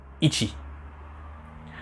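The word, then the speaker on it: 一: Alors, je vous donne en même temps une des prononciations, celle où quand le chiffre 1 est tout seul, ichi.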